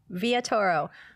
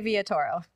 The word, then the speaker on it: Villatoro: Villatoro. Villatoro.